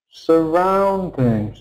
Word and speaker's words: surroundings: So the sound, the vowel sound in the stressed syllable must be loud. Ow sound. Must be clear.